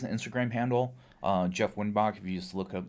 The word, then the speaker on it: Wyttenbach: So it's whit tinbatch. I always make fun of my name. W Y T N B A C H.